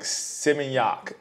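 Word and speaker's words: Seminyak: in the caption uh it's like simiac that's how they say it and yeah I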